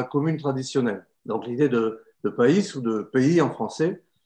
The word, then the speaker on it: PAIS: PAIS, ça s'écrit comme maïs avec un P.